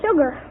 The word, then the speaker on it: sugar: who wants you to name two common words in the English language that begin with Su but which are pronounced as if they started with SH uh Pat well there's sugar Sugar's one you think